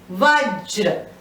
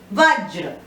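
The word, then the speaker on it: वज्र: Vajra. This J is pronounced half, R is pronounced full. Vajra.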